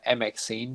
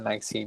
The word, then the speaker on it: MXene: it it's also different many people who are not familiar uh obviously even uh google sometimes or or ward uh recommend uh saying uh maxine but we pronounce it magazine and i hope that